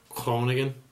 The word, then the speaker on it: Groningen: Amsterdam in the Netherlands called gronigan or as the locals pronounce it Crone again that could have been a bit butchered in itself but yeah when people